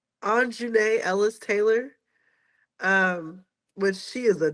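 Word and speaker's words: Aunjanue Ellis-Taylor: I think it's pronounced Anjune Ellis Taylor.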